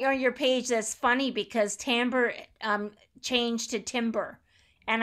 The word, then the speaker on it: timbre: myself i'm looking up timbre like i never pronounced that word correctly oh most people call it timber i know i've actually